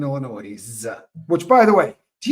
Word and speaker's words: Illinois: see Lumen gets it it's like pronouncing the ass in Illinois which by the way